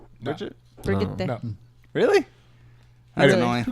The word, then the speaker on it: Brigitte: Wait, it's not pronounced Bridget? Bridget? Brigitte.